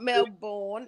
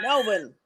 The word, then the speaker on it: Melbourne: He's in Melbourne. Melbourne. No, it's Melbourne. Oh my gosh. It's Melbourne. It's not Melbourne. It's Melbourne.